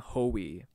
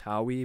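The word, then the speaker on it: Howie: names and I remember him pronouncing how he's named ho e like ho e I'm like ho we what kind of a name is ho e I would learn later it's pronounced how we but I'll get to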